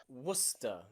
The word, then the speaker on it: Worcester: that's it okay recent there are places like leicester and gloucester and worcester okay and nearly all of these you have a c in them that is completely silent okay lester you might know the